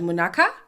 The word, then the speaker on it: Munaka: The Ndebele in me wants to say Munaga so bad, but they were pronouncing her name as Munaka. So I'm going to say Munaka.